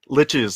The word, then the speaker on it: Liches: say your last name liches like stitches liches liches like stitches